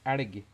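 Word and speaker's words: elg: phone another bobcat well in Norway we call a moose arigi it's written e-l-g but uh you know pronounced norwegianly embrace the hurdy gurdy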